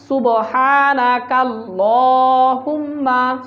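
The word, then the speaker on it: سبحانك اللهم: দিয়ে বুঝেন সুবহানা কালুম্মা দুটো একসাথে বললে সুবহানাকা আল্লাহুম্মা সুবহানাকা আল্লাহুম্মা তারপর ওয়াবিহামদিকা ওয়াবিহামদিকা এখানে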